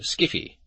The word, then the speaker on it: skiffy: We SF elite pronounce it skiffy, and never, never use the term to describe the right stuff.